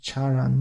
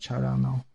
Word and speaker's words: charan: That should be pronounced charan, not charano.